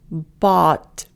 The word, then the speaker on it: bought: Bought. Honest. So here you look at that O-U-G-H and it's the same sound as A-W.